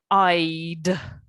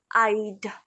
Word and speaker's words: I'd: pronounce this for me i'd i'd prefer to visit excellent very good yeah you need to pronounce the d because that's the contraction of the verb would and in the question